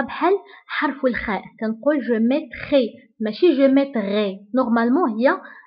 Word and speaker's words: je mettrai: فla lettre R كنطقوها بحال حرف الخاء. كنقول je mettrai. ماشي je mettrai. Normalement, هي la lettre R. ولكن كنقراوها ب je mettrai.